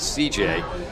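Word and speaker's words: Cijai: It's C-I-J-A-I is the first name. We're pronouncing it C.J.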